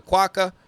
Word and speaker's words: Quokka: Quokka is how it's pronounced.